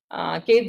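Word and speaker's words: ket: And actually it is pronounced as, we can use this pronouncement as Kate 0 and Kate 1, and this is notation is called as the Dirac notation.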